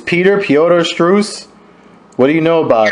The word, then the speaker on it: Piotr Strus: Your opponent is I don't even know how to pronounce his name. It's Piotr Struss.